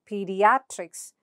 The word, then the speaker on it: pediatrics: is a suffix, and look at the syllable before the suffix, that is, in this case, in the case of genetics, net, and in the case of pediatrics, at. So how do you pronounce it? Genetics, genetics. And in second case, it's pediatrics, pediatrics.